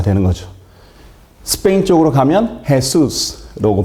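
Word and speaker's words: Jesús: 거고요 영어로는 jass가 되는 거죠 스페인 쪽으로 가면 해수스라고 발음하는 거고요 다 발음이 다르죠이 J 발음이 영어권에서는 우리나라민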